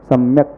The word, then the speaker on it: सम्यक: सम्यक शब्द में क जो है वो हलंत है, वो स्वर रहित है क। तो जब उसमें अस्वर मिल जाएगा तो वो सम्यक क पूरा बन जाएगा। तो उसका उच्चारण में इस प्रकार से हम करेंगे कि उतना ही निकले जितना लिखा गया है, स्वर मिलाकर के उच्चारण न करें, सम्यक पढ़ें।